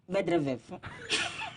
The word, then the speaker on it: Medvedev: So you break it into syllables. Okay. Okay. MED is what? Med. VED Ved. is vet. Then EV is F. F. So Djokovic dominates Medvedev.